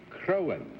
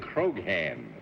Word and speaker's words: Croghan: And for nearly 18 years, I've been trying to teach you it's John Charles Patrick Crowan. That's the what G I said, is silent. You said Croghan.